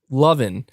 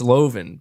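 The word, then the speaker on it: Levin: change it's like Mark Lovin I I mean I pronounce his last name Lovin and he's made it clear it's Loven but I'm like yeah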